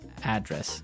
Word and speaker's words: address: you live Y and there the stress is on the first syllable address right perfect very good okay